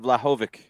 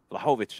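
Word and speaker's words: Vlahović: juve does with uh dusan vladhovik lehovich i've heard it all different ways uefa actually had it at one point their pronunciation was fla-hovic they could be wrong at uefa they they you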